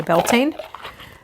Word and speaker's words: Beltane: Witch the bieltana one uh builtana being the Irish pronunciation you could say Beltane I chose this one